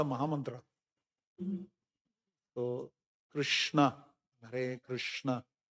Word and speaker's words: Hare: My point is that Hare has to be that ha has to come out very clearly. Hare. Hare.